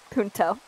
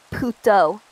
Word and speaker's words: puto: Punto.